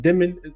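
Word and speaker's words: Dëmin: We'll see what Edgar Demon, I think is how you pronounce it. Demon is how you pronounce his name.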